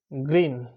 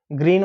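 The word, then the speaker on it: Greene: Graham গ্রিন বা গ্রিনি অনেকে গ্রিন উচ্চারণ করতে পারে অনেকে গ্রিন উচ্চারণ করে কারণ শেষটা অনেক সময় উচ্চারণ হয় না তো গ্রাহাম গ্রাহাম গ্রিন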